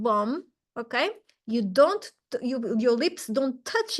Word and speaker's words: bom: Another tip, the pronunciation tip, is that every single word in Portuguese that ends with M, it's going to be nasal. So you're going to do bom, bom, like a circled O with your mouth, not bomb, okay?